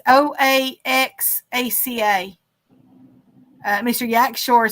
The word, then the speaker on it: Oaxaca: how you spell it oh you actually said it's pronounced Oaxaca Oaxaca cheese now I